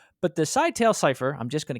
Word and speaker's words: Scytale: what's up they would use something called the Sigh tale Cipher it's Cy T L E I am